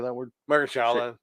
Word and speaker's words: Shaolin: Margaret Shaolin. Shaolin.